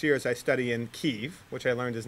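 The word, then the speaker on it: Kyiv: over the next year as I study in ke which I learned is not Kiev but from reading her blog it's not pronounced Kiev it's okay so you know I learned something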